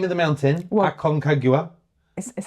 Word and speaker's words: Aconcagua: Aconcagua.